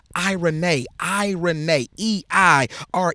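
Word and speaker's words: εἰρήνη: piece that word piece in the Greek is pronounced I Renee I Renee II I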